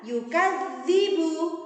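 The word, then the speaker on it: يُكَذِّبُ: Kemudian yukadzibu, ada tasydid pada huruf dzal, maka membacanya harus double.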